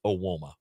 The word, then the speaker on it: Evbuomwan: It's EVBUOMWAN, and all of that is pronounced Awoma.